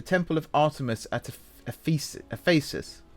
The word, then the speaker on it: Ephesus: of artamus at epes Ephesus I think it's pronounced Ephesus otherwise it sounds like feces which isn't oh no